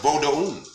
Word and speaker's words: Vodun: So when people are spelling that Vodun, that's supposed to be pronounced Vodun. That is not how our tradition, that's not, no. The O is not even part of that U sound. The O makes an O sound.